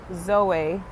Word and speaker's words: Zoe: It's pronounced Zoe, got it, Felicie.